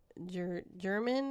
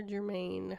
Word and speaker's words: German: And then the other girl, Liberty or Libby, Rosalind German or Germain, however you say it.